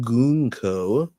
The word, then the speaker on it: Gunko: If we look at Gunko, her name is written with a kanji for military girl, pronounced Gunko.